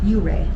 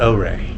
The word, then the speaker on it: Ouray: a little bit so how do you pronounce this town ur ur mhm it's not oay nope Ur I've been uh pronouncing